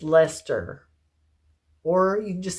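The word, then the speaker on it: Leicester: that's a DK and that is how you say that word blueface Lester or you just say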